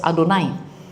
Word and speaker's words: Adonai: from right to left so Y HW Adonai pronounced as Adonai of We can pronounce as Yahweh in the past.